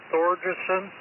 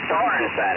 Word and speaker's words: Sorensen: Yeah, now is that made by Thorgerson? No, I pronounce it Sorensen, S-O-R-E-N-S-E-N.